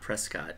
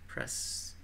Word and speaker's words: Prescott: on that thing yeah only tourists pronounce it yeah I I'm sure what spread uh not Prescott it's pres I used to know